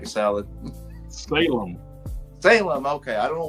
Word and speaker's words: Salem: know Jason Booth says anyone seen the new salam's lot film on Max Matt have you seen